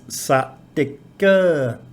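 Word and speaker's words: สติกเกอร์: So it might be sticker in English, but the Thai pronunciation with that implied vowel is satika.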